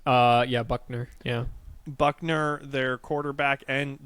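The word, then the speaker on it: Buchner: is Tyler Buck Buckner is that how it's pronounced uh yeah Buckner yeah Buckner their quarterback and Drew Pine um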